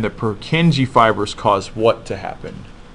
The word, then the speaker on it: Purkinje: the scientist was a Czech scientist named Purkinje, we pronounce it Purkinje. Number six is called the Purkinje fibers. I don't remember if it's Purkin or Purkin. Hold on a second here. Yeah, it's Purkinje fibers. Purkinje. And the Purkinje fibers cause what to happen?